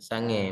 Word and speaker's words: sange: Ya, sange. Mungkin di sini ada yang nggak ngerti bahasa Aceh ya. Nah, jangan tambahkan k pula di sini ya. Nah, jadi bukan sange lagi bacanya ya.